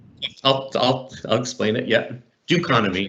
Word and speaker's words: Dokonomi: i'll explain it yeah do economy instead of economy it's the duke economy yeah the economy and